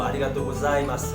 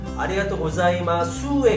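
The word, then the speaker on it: ありがとうございます: 뭐 아리가또 고자이마스 같은 경우도 아리가또 고자이마스 이렇게 영어의 Z 발음처럼 Z 발음처럼 이렇게 발음하는 게 굉장히 중요하고 아리가또 고자이마스보다는 아리가또 고자이마수에 가깝습니다. 수.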